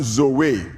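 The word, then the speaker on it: ζωή: is translated from a Greek word that is pronounced Zoe amen and zo is the life of God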